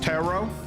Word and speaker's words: tarot: The second T is silent. So what? It's pronounced tero. I never knew that. Is that correct then? Tarot.